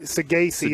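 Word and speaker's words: Saggese: If you're following me here, Rangers for Roby and Sagasi. We said it wrong, but Sagasi is how you say it.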